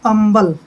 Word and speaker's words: humble: जैसे ये है HUMBLE, इसको हम हम्बल नहीं बोलेंगे, हम्बल नहीं बोलेंगे, एच साइलेंट रहेगा। इसमें इसको हम बोलेंगे अम्बल।